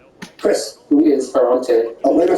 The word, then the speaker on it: Ferrante: Anne Goldstein learned Italian to read Dante and has translated this pseudonymous author whose name rhymes with Dante. Chris. Who is Ferrante? Elena Ferrante, you got it.